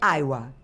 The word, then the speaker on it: Aiwa: tinha na época é Aiva ou Aia. Então, na verdade, se a gente fosse olhar internacionalmente é IA. Se você olhar internacionalmente é, mas no Brasil o W a gente pronuncia como V.